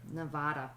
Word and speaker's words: Nevada: So she's telling you how to pronounce Nevada correctly. Okay. Nevada, not Nevada.